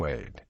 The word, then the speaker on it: Soueid: years and twin 15-year-old sons su's name is pronounced sued earlier civil lawsuit sued was named as a